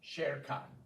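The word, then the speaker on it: Șercan: You'll help me Emilia pronounce Sherkan. it. Amelia Sherkan. Sherkan.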